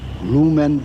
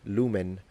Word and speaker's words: lumen: an interesting fun fact, if you pronounce it like he did, lumen, you're basically pronouncing it in ecclesiastical pronunciation. It is very likely, by the way it has been reconstructed, that the way ancient Romans would have pronounced this word would have been with a fully nasalized N at the end.